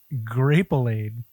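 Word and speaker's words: Grapelade: he developed an advertised grap olade rhymes with like marmalade grap aade oh I'm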